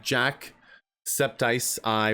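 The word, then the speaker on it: jacksepticeye: Raiders and everyone jumping in with us it's pronounced like Jack septice I but I mostly go septic thank God thank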